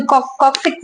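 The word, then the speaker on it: coccyx: And last one इज कॉकेक्स, कोई कॉक्सिक्स बोलता है, कोई कॉकेक्स बोलता है, व्हाट यू प्रोनाउंस।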